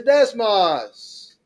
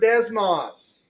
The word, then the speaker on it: Desmos: is I would like to introduce everybody to Desmos. Have y'all heard of Desmos? Okay, it is spelled D-E-S-M-O-S.